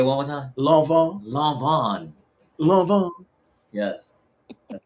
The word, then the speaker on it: Lanvin: Lanvin. Yes. That's how you say it. I'll figure it out cuz I'm that person to House of Lanvin? It's a Um yeah, so House of Lanvin.